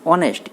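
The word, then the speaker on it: honest: একটা আছে অ্যান অনেস্ট, এখানে দেখেন অনেস্ট আমরা কি উচ্চারণ করতেছি, অনেস্ট, এইচের উচ্চারণ কিন্তু এখানে উজ্জ আছে, এইচের উচ্চারণ কিন্তু উজ্জ আছে, অনেস্ট, এখানে কিন্তু অনেস্ট আমরা বলতেছি, হনেস্ট কিন্তু বলতেছি না, বলতেছি অনেস্ট।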